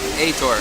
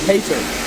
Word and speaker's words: Heitor: Your name pronounced Heitor? Heitor. Heitor.